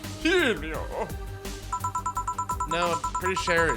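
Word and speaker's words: Virgilio: now we meet again bartender you look winded vilo it's pronounced vilio no I'm pretty sure it's vilo you said as much the last time you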